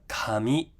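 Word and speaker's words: かみ: Okay, and then we have kami, so starts lower, comes high.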